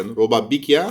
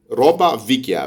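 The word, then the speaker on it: roba vecchia: بس هي بالايطالي هي مش بيكيا، هي فيكيا. روبا فيكيا. بس هي بتنطق روبا بيكيا عشان ده نطق الجنوب. يعني في بعض المناطق في جنوب ايطاليا بتنطق حرف الفي بالبي.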